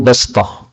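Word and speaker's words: بسطة: Kemudian bastah, ini ada 3 qiraah. Qara'a Hafsun wa ghairuhu bastah. Hafs membacanya dengan sin, bastah. Syu'bah membacanya dengan shad. Sementara Khallad membacanya dengan 2 macam bacaan, bisa dengan sin, bisa dengan shad.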